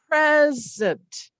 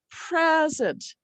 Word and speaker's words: present: So I'll say a stress is that punch. So we're going to punch. And I'll say, we can say this, they'll know that this where the syllable breaks. And we'll say, I have a present. And the here in the unstressed syllable, we call it a schwa, but it's as if we're barely even saying this vowel here. So it's a present. But as a verb, I am going to present.